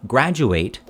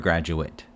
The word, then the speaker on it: graduate: eight ate ending words verbs ending with ata eight are pronounced like eight the number eight nouns adjectives with adverbs pronounce like it so we have example sentence i will graduate eight next year i